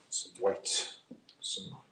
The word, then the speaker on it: white: So for that, let me grab some white, as Bob Ross would say. It's like that Midwestern pronunciation. It's like he says the H and then the W.